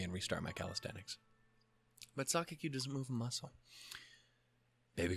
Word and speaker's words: 榊: Sakaki. Okay, so I am saying it right.